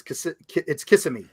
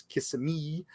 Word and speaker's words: Kissimmee: Kissimmee, if you're in Kissimmee, it's Kissimmee. And then if you're from, an older Florida, it's Kissimmee.